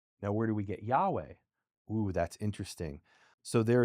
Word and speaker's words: Yahweh: Well, it in ancient Hebrew it's believed it wouldn't have been Yave. It would have been Ya. Yahweh, right? the the H would be pronounced Yahweh.